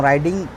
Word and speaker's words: ride: आई एम राइडिंग my bike यानी मैं bike चला रहा हूँ। ठीक है, समझ गए आप। और RIDE, ई साइलेंस, डी पे इसका उच्चारण खत्म, RID राइड।